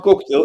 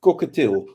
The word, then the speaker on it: cockatiel: And it's not cocktail, it's cockatiel.